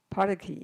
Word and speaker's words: Parki: I'm Parki. Paraki, yeah. How you park a car, lock it with the key, Parki.